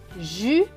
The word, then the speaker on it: Julie: Le E à la fin est écrit en bleu, donc il ne se prononce pas. Donc, on va lire ce mot. Julie.